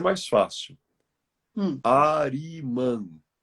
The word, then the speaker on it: Arimã: Arimã. A de amor, R de rei, I de isso, M de Maria, A. Ari, Arimã. Arimã. Arimã.